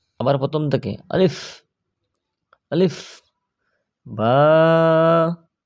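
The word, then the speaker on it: ب: আবার প্রথম থেকে আলিফ, আলিফ, বা, বা, 2 ঠোঁট মিলাইবেন, ছেড়ে দিবেন, বা হয়ে যাবে।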